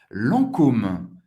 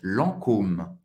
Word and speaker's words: Lancôme: Lancôme. Lancôme. Lancôme. A-N tem o som do AN. E você vai pronunciar o O bem, bem forte. Lancôme. Lancôme.